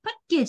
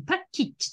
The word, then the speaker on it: package: これ、ね、パッケージじゃなくてパッキッチって発音します。